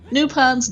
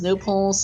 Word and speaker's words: nopons: second to breathe, yeah, it's nopons, no pulse. I mean, either works depending on which language you want to go with. No pulse is the French pronunciation, nopons the English.